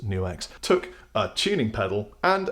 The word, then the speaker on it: NUX: guys at new X yes I checked it's pronounced new X took a tuning pedal